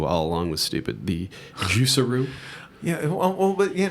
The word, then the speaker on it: Juicero: here's your first problem if you call your company juicero everyone's call it juicero that rhymes with Underoos which are underwear for children so don't call your